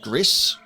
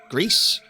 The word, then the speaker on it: Gris: Uh so I am aware that this studio did the game uh Gris Grease, however you want to pronounce it. GC, I'm pretty sure it's Gris.